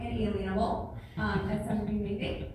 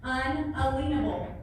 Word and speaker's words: unalienable: with certain inalienable rights that's inalienable that word is not pronounced inalienable these rights are unalienable um they are that's